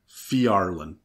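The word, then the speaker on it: Phiarlan: The first one is House Fjarlin. That's spelled with a P-H-I. Fjarlin.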